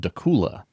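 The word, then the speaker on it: Dakhla: The the wonderful world of the internet says that you pronounce it doula. Yeah. but it's spelled D A K H L A and our buddy Ben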